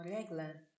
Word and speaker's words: regla: Que eles falam regla. Olha só, parece que tá pronunciando errado, só que não é. Aí é em espanhol que você tá falando.